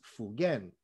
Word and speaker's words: Fugen: And here is a Japanese where he is known as Fugen. That's the Japanese pronunciation of those same two characters.